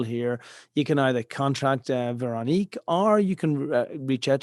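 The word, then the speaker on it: Veroniek: So it's Veronique at Silata. Now that name needs some pronunciation. I'm Dutch, so it's the French Veronique, but then written in a Dutch way.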